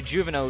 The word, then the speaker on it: Juveno: Lap 7, and Barry Juveno leads the field. It is pronounced Juveno, not Juveno, as I've incorrectly pronounced it, as he harshly reminded me last week.